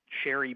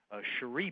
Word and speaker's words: Cherie: But you actually pronounce her name Cherie Berry, right.